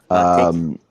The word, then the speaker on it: Teiki: Hey, so I got a question for, I don't know how to pronounce it. I'm just going to say Teiki. Teiki.